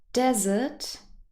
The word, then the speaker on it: desert: is the difference but if you listen carefully desert dessert the pronunciation is also quite different first of all what